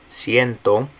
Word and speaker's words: ciento: Okay, ciento.